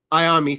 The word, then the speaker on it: Iommi: Iommi, thank you. I always get that last name messed up because it's spelled weird.